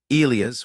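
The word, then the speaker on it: Elias: She had a particular way of calling my name when she was about to tell me something that required a bearing, Elia's with a certain weight on the first syllable, and I learned to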